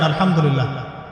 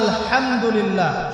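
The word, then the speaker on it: الحمد لله: আলামিন এইতো আপনি পড়ছেন আলহামদুলিল্লাহ শব্দটা কি আলহামদুলিল্লাহ এই হা এর মাখরাজ কোথায় হা এর মাখরাজ কোথায় বলেন একজন কণ্ঠনালীর মাঝখান থেকে এখান থেকে আপনি উচ্চারণ করছেন আলহামদুলিল্লাহি রাব্বিল আলামিন অর্থ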